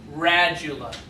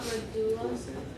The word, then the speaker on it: radula: Radula. There's underwater. Scraping mouth part. It's not Radula.